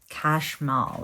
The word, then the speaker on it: Chashmal: Okay, Kashmal is how you say his name.